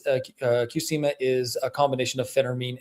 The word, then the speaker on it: Qsymia: That one's, the pronunciation might be a little bit off, but it's Qsymia is a combination of Phentermine and Topiramate.